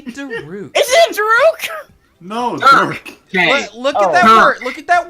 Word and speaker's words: Dirk: No, Dirk. Dirk. Okay. Look at that Dirk. word. Look at that word and spell it out. Sound it out. You see how it says like Herc? Like Herc.